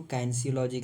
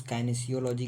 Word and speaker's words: Kinesiology: Okay, तो जैसे word किनेसियोलॉजी है तो इस कुछ लोग इसको काइनेसियोलॉजी कहते हैं, कुछ काइनेसियोलॉजी कहते हैं, तो प्रोनाउंसिएशन अलग अलग हो सकता है, लेकिन मेन टॉपिक पे फोकस करते हैं।